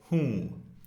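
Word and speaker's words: हूँ: which is hmm-hmm again this is nasalized the N isn't actually pronounced even though you may see it written hoon we don't say whom we say whom so Who am I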